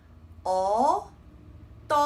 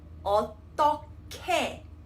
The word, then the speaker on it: 어떻게: So if you have a look at this example, this word is not read as 어떻게. Instead, we have the H and the G again, right? So it will be 어떻게. 어떻게. K sound. Okay, and what about this word?